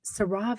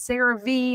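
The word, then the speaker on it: CeraVe: he bought some sarve he kept saying sarve sarve sarra like he didn't know how to pronounce it and a chump calls in it's like oh my God I work for that company it's seravee and it's so good I'm like who doesn't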